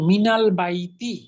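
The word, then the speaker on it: مِنَ الْبَيْتِ: মিনের পরে আলিফ লাম যুক্ত শব্দ আসলে মিন উচ্চারণটা হবে মিনা।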